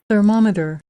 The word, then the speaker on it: thermometer: इसको सुन लें आप, नेटिव इसका प्रोनाउंसिएशन। thermometer, thermometer, thermometer, उसके बाद एक वर्ड है जिसको